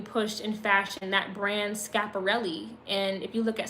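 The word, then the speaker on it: Schiaparelli: cooking um being pushed in fashion that brand scaparelli and if you look at some of their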